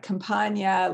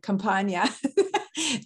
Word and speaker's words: Campagna: Sean, see if I can say it right, Compagna, like lasagna, Compagna.